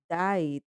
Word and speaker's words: died: Ese último sonido, esa ed, va a sonar como una D. Die, died.